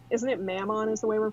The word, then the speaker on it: Mammon: We went into the cave, found out that it was basically like isn't it Mammon is the way we're pronouncing it?